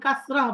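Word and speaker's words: كسرة: বলি ফাতহাতুন হ্যাঁ জি আর জেরকে আরবিতে বলে কাসরাতুন কাসরাতুন কে আমরা যখন সুকুন দিয়ে লাস্টে ওয়াকফ করে বলি তখন কাসরাহ বলি কি বলি কাসরা কাসরা জি আর পেশ তিন নাম্বারটা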